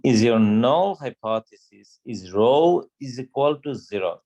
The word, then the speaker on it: rho: your null hypothesis is row is equal to zero this is row this is not p it kind of looks like this row is spelled r h o rho okay so rho is